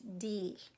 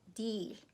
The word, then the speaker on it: değil: So don't be surprised how I pronounced it. I know it's written değil, but we say değil because it's easier to say değil. But of course it's written as değil.